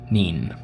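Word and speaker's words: Kneen: I'm assuming the K is silent. Neen.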